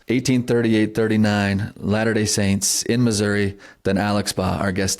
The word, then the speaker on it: Missouri: I don't know anyone else who knows more about 1838, '39 Latter-day Saints in Missouri than Alex Baugh, our guest today. Do you? He even knows enough to say Missouri instead of Missouri, which you've corrected me several times on this, Alex.